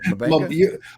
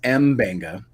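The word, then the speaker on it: M'Benga: Mabenga? I love doing these shows with you just to listen to you say all the characters' names. All right. Mabenga is Mbenga. Oh, is it Mbenga?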